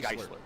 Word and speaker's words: Geisler: And he said that you say his name like it's Chrysler, but Geisler. Right, Geisler.